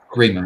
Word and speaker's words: Remo: So yeah, am I pronouncing that correct, by the way? It is Remo. Yeah, that's right. Yeah, Remo.